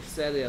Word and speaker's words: said: 발음은 said야, said. said. said. 그럼 발음은 뭐하고 똑같다? 얘하고 똑같단 말이야.